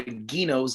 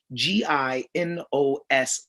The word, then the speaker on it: Gino's: Confused, I asked, Gino's, spell that for me, please, to which she said, Ginos, laughing hysterically. I said, I'm pretty certain that's an Italian place pronounced Gino's, to which she responded, straight-faced, you only knew that because you only really speak one language.